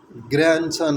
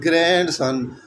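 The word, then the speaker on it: grandson: That is ग्रैंडसन, नॉट ग्रैंडसन. ठीक है, तो यहाँ पर भी जो डी है वो साइलेंट है.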